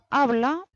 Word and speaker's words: habla: Habla termina por una vocal. Entonces, el tono de la voz apoya naturalmente en la penúltima sílaba.